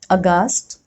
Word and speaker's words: aghast: Rule number 3, H is often not pronounced when it comes after C, G or R. Like in these examples, choir, chorus, echo, ghastly, aghast, ghoul, or rhinoceros, rhyme, rhythm.